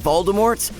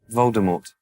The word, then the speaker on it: Voldemort: pronounces it that way the name itself has french origins and in the french language everyone seems to hate the letter t just like the french